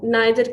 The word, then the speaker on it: neither: did we clear with everyone yes uh neither spelling Nether Nether okay pronunciation is neither and neither both students neither for americ in